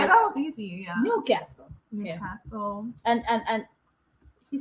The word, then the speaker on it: Newcastle: Newcastle. I don't know why I put the essay. Sorry, Newcastle, not Newscastle. Newcastle. Because I'm like, I know I got that one right. Yeah, that was easy. Yeah. Newcastle.